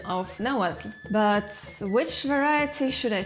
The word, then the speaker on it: Nahuatl: They sound W with a W or a U, or a combination of HU and UH, like in the word Nahuatl.